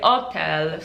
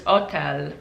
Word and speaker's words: hotel: Okay, the next thing is, if you ever see an H in Italian, it's silent. For example, the word hotel is also used in Italy, but they say hotel, so the H is silent. They still write the H, but it's silent. So they just pronounce every other letter in the word except for the H, so it's just hotel.